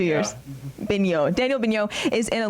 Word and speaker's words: Beno: Bignot.